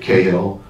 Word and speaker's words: Cahill: I went online and looked up all these different names, and I found I like Cahill, Hard C.